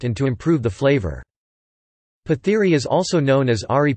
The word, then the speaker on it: Pathiri: Pathiri Malayalam, Pathiri pronounced pat-e, is a pancake made of rice flour.